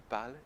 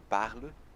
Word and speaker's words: parles: Je parle, tu parles, il parle. Então fica tudo igual sonoricamente falando. Então fica je parle, tu parles, il parle. Na escrita tem uma diferença ali, um S, mas não se pronuncia.